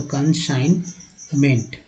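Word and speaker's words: consignment: और कंसाइन, देखिए आई का उच्चारण जो है आई के रूप में हुआ तो कंसाइनमेंट।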